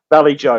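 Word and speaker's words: Vallejo: Valley Joe, right, Casey? That's how you pronounce it?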